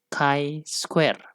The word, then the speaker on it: chi-square: Bisa menggunakan Z, T, F, dan X atau chi-square. Ingat, ini dibacanya chi-square.